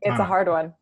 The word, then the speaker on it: Thana: It's the H is silent. That's okay. I've been mispronouncing this whole time. Thana.